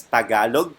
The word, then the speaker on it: Tagalog: You pronounce it as Tagalog.